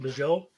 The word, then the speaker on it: Bujold: Okay, so Lois McMaster Bujold, and but it's got a lot of life,